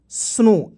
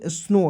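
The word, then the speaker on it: snow: देखिए यहां पे ए एस एन ओ डब्लू स्नो ए से होता है दोस्तों आधा स होता है और एन ओ से दोस्तों होता है नो तो क्या हो जाएगा दोस्तों स्नो डब्लू को साइलेंट कर दो ठीक है दोस्तों यहां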